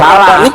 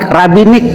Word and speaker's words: rabinik: mesianik terpecah menjadi dua rabanik dan mah bukan rabanik rabinik rabanik lainabik beda I Iya rabinik rabinik RAB Maf Sal bukan rabanik salah t rabanik Iya itu kan cuma